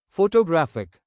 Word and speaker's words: photographic: Photographic stress shifts to third syllable.